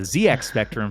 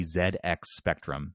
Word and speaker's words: ZX Spectrum: the zx spectrum which damien helped me with the pronunciation of that because i was calling it the zx spectrum for my whole life and apparently it is the zx spectrum savison has released a